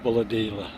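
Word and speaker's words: Bulahdelah: call it Bulladella. It's Bulladella is the way it's pronounced.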